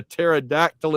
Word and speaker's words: pterodactyl: New York Tiger knows Van's favorite is you can't hear a pterodactyl in the bathroom because the P is silent.